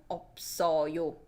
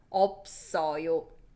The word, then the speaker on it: 없어요: And if you wanna make it polite, 있어요 and 없어요. Listen to the pronunciation. Remember linking sound? This double shield underneath gets pronounced when it's followed by 이응. So 있어요 or 없어요.